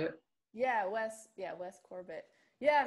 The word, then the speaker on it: Corbett: Yeah, Wes Corbett. Yeah, Corbett.